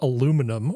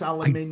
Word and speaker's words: aluminium: want to argue about the correct pronunciation of aluminum or aluminium, I don't care. It's aluminium. I don't care.